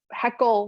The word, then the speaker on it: Hoeckele: really passed down so heckle was always the way they my parents pronounced it and it was always like don't heckle me so that's how i